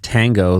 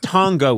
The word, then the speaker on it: tango: Would you agree that Tongo would be incorrect? It could be Tongo, a quicker A. I accept that, but I will not accept Tongo.